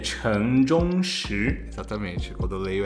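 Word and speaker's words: 陈忠实: E eu vou passar a pronúncia do nome pro Caleb. Caleb, por favor. O nome dele é Chen Zhongshi. Exatamente. Quando eu leio é Shen Zhenxi.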